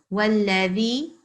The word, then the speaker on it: والذي: I think your dhal as well, you were maybe pronouncing them a little bit like za when it should be dhal. Can you put your tongue in between your teeth and say dhal for me? Dal. Yeah, so that's what we're supposed to recite when we see this letter here.